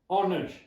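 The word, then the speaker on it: honour: You don't pronounce H, still then you have to write H-O-N-O-U-R, honor.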